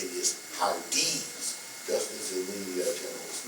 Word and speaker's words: Hardee: And notice that one of those corps commanders is Hardee, which is the way he pronounced his name, which is the way everybody else ought to pronounce that name.